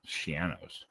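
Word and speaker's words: Schiano: Remember, it rhymes with piano. Shianos. Yes.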